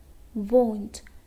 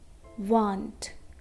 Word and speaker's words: won't: eat okay now remember we have to pronounce okay won't not want want want is different okay we have to